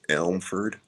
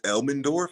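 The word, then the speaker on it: Elmendorf: Elmford. Uh, Elorf. Oh, it's Elmenorf. I said it wrong.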